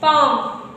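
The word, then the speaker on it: palm: है साइलेंट ी के पहले एल आया है साइलेंट तो इसको क्या पढ़ेंगे काम बम पाम पाम ओके ये थप्पड़ वाला नहीं इतना समझ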